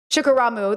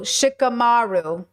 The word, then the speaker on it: Shikamaru: Shikaramu. Thank you. Yeah. Shikaramu. Why am I saying it wrong? Anyways, be him. Be a little bit like, balance it out. Yeah. Maru, Shikamaru.